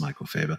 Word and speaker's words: Michel: Now, the reason why we said that is it can be pronounced Michel Faber. And in fact, my middle name is Michael without an A, and I pronounce it Michael.